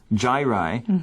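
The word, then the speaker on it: gyri: there's some scientific words here here's how we pronounce them the first wood is Giant which are the round features and the second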